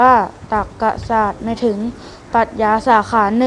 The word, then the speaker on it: ตรรกศาสตร์: นะ ครับ อ๋อรู้ แล้ว คำ ว่า ตรรกศาสตร์ อ่าน ว่า ตรรกศาสตร์ หมาย ถึง ปรัชญา สาขา